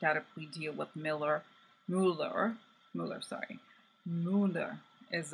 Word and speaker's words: Mueller: so in a way it's Miller like Miller closer to Miller than Mueller then how we say